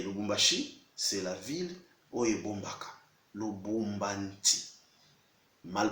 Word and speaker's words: Lubumbashi: Ce n'est pas Lubumbashi, c'est le Lubumbanti.